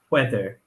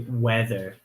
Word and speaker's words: whether: know I'm Scottish so my pronunciation is whether with an aged well but English people say whether without an age and I think Americans say it too as well whether whether the match